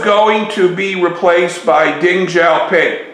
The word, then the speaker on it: Deng Xiaoping: to be replaced by Deng Xiaoping remember in the Chinese language X's are pronounced like ZZZ ding is going to